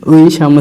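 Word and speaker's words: 의사: যুক্ত স্বরবর্ণ ওই, ওই, ওই সামনে থাকলে ওই উচ্চারণ হয়, কোনো শব্দের শেষে থাকলে এ উচ্চারণ হয়। তো এখানে সামনে আছে ওই, ওই, এর সাথে সিউত, এর সাথে আকার সা, ওইসা, ওইসা।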